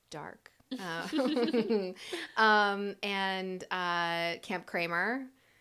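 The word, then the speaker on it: Darc: Studio dark on Instagram d-a-r-c pronounced dark um and uh Camp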